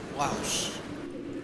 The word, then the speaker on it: Laos: Next stop, Wangbang International Airport, Laos. Locally pronounced Lao.